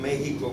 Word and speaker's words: México: escribía como una X Quizás por eso en español nosotros escribimos México con J, escribimos México con X, pero lo pronunciamos como J.